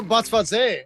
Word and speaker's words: Botsvadze: Oh, Botsvadze. Okay. Yeah. Oh, the Z is pronounced.